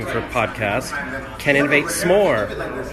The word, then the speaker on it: CANInnovate: name of her podcast can innovates more like get it we can innovates more and it's pronounced can innovate she says not Kenan can innovate a god I just